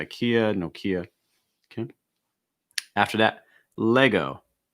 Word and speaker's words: Lego: after that lego lego key thing is that e la la lego lego this is the same s only see like in best or get or head le lay lego lego just like in saying leg as well after that bayer bayer